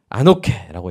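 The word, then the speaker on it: ἀνοχή: 아노케라고 읽는데요.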